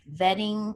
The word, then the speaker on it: Wedding: But I also noticed that oftentimes words like Wasser would be W, or like vetting is wedding. In Berlin, there's a city called Vetting, but it's spelled wedding.